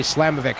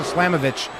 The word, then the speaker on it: Slamovich: slavovich against Mercedes Monet I don't know why my brain always wants to say slamovic I probably said it wrong more than I've said it right on the show but it's Masha slamovitch going up against Mercedes